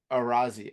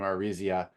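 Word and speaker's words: Araiza: The Chiefs have signed former Bills punter Matt Arazia, I think is how you say his last name, Arizia.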